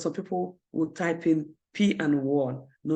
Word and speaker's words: PWAN: w a n but the pronunciation might be like P and one but the the pronunciation